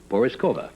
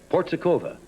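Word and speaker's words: Porizkova: Porzekova.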